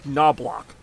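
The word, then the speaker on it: Knoblauch: Tino Martinez and Chuck noblock silent letter and the Au sounds like ow now block wait oh God damn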